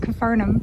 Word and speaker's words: Capernaum: was farther than confirm Capernaum but I think they do pronounce it confernum here for some reason but